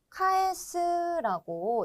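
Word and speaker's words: 返す: 자, 그러면 요 한자, 요 표현은 카에스라고 읽고요.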